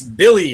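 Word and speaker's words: Willy: hey real quick I got a quick it's Billy Hernan Gomez Billy yes W is actually pronounced as of B yes I got a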